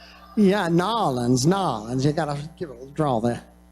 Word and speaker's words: New Orleans: first of all how many of you Benton nollans see ya and now you know how to say it right yeah nollans nollans you got a draw sir